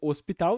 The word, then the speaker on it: hospital: E o H na grafia, né, grafado no português, não é pronunciado, ele é mudo no português. Então hospital, ninguém vai falar hospital vai sempre ser pronunciado como se não houvesse um H ali.